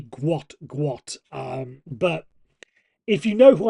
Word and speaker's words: Gout: And his name is spelled Gout. So you may have thought it's Gout. I thought it was to start up with. But some quick research says it's actually Gwot.